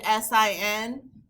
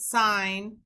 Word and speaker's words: sin: abbreviated SI n but I don't want to hear anyone saying the sin of angle a even though the E is not there when we abbreviate we still uh pronounce it sign so sign is the